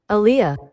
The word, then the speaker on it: Aaliyah: that it's not hard it's pronounced like R&B singer that AIA Aaliyah man